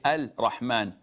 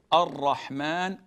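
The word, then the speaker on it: الرحمن: We don't say Al-Rahman, Al-Rahim. We say Ar-Rahman, Ar-Rahim. We merge it and we put an emphasis on the R.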